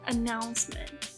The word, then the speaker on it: announcement: Olha aqui como ele pronuncia announcement, né? Ele quase não fala esse T, né?